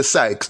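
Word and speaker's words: psyches: Sykes is pronounced P-S-Y-C-H-E-S. We say Sykes.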